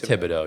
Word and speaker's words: Thibodeau: I mean, look, Tom Tom Tibido, I don't even know how you say his name. Is it Tibido? It's Tibido. Yeah, Tibido. So, Tom Tibido, he has